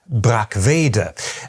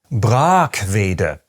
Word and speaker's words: Brackwede: Even many native German speakers might have expected me to say “brack-VE-de”, as would, I suspect, most non-native speakers of German who understand how German pronunciation normally works. But what I said was “BRAAK-ve-de”, which is subtly different.